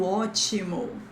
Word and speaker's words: ótimo: you can say tudo ótimo, tudo ótimo. Oh, take a look at this accent mark again in the O. Oh, this is the stress syllable.